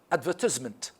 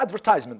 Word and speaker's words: advertisement: on the third understand advertisement or advertisement by the way we have advertisement or advertisement both it is on the second advertisement okay advertise advertise